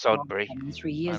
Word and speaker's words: Sudbury: it's liketh of michig son William moved it's pronounced sodbury all the ghosts are on the east coast